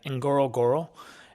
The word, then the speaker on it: Ngorongoro: Enoro, it's NG O R O N G O R O. And it's basically just repeating itself twice.